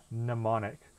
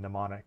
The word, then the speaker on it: mnemonic: we have this word mnemonic which is means a you know trick for memorizing something and that first m in mnemonic is silent but i don't know